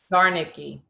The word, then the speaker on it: Szarnicki: No, I mean the S is silent.